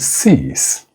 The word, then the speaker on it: cease: So you have sees with a voice fricative z and sees with a voiceless fricative s.